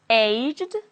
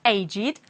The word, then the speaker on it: aged: let's see an example the first one can be pronounced aged with a D or aged aged if it's a verb for example he died aged 70 and will be pronounced it will be pronounced as agid when it is an adjective for example aged men are quite attractive the same happens with